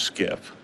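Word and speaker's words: SCIF: sensitive compartment information facility it's pronounced skiff this term originates from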